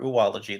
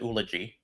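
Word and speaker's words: oology: uh like you know the famous O front hook for ology for oolology the study of eggs. Mhm. So yeah, which I do pronounce that way. I don't pronounce it ulogy.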